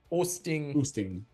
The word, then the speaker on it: Oosting: Oosting. Thank you for your correction of my Dutch pronunciation.